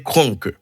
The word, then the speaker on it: Kroenke: Eh bien, il s'agit du milliardaire Enos Stanley Kroenke. Et si elle prononce comme ça, c'est parce que famille, monsieur, c'est d'origine allemande, qu'il faut, ouais, peut-être l'état important pour nous prononcer que, hein, et normalement.